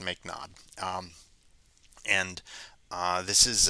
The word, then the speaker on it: mknod: in here uh called mknod typically this is pronounced make nod um and uh this is uh this can